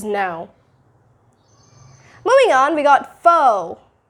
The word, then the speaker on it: faux: Moving on, we got faux. Faux. This is F-A-U-X, so you're not going to be pronouncing it as faux or with that A-U diphthong. No, it's just faux. Faux. Don't pronounce it as fox.